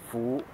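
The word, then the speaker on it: 福: stuff, and it's pronounced Fu. So, her friend asked her what this character means, and my cousin said Fu, which is the Cantonese version of pronouncing this word.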